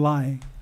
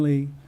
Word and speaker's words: Ly: Myler was Caton Mejia, and Rialto was Lai, or Lay. It's spelled L-Y, so. Lee. Lee, okay, thank you.